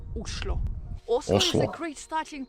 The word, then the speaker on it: Oslo: culture you will have in norwegian the right way to pronounce the name of the capital is uslo also is a great